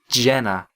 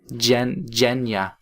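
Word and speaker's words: Zhenya: Your name is Jenna. Jenya. Probably. According to him.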